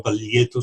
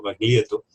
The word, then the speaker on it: Baglietto: La familia Baglietto es una familia, lo pronuncio a la española porque él lo pronunciaba así también, no Baglietto, sino Baglietto.